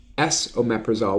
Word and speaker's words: esomeprazole: We've got omeprazole or Prilosec, S-omeprazole, which is an enantiomer of omeprazole, so it's pronounced S and then omeprazole.